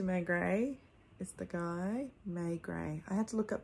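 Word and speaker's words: Maigret: of these inspector may gray is the guy may gray i had to look up the pronunciation of that it's it's easy to read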